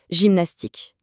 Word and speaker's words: gymnastique: Si notre G se retrouve juste devant un e, un i ou un y, alors là, automatiquement, sa prononciation s'adoucit et devient j.